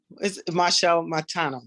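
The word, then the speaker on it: Machel Montano: would say getting backstage uh they just see Marshall Montana correct is that how you say it yeah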